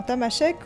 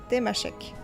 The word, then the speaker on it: Tamasheq: En tamashek, on prononce tamashek, temashek.